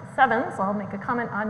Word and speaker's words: CEvNS: So just starting with coherent elastic neutrino nucleus scattering, which I pronounce CEvNS, I'll make a comment on that in a second.